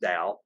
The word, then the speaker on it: Dao: he uses the term the dao some people pronounce it tau but it's pronounced dao and it just simply is the chinese word